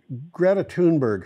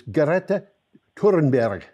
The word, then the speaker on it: Greta Thunberg: You know, Greta Thunberg, her name is Greta Thunberg. It's like she's turned it into... She's turned four syllables into seven.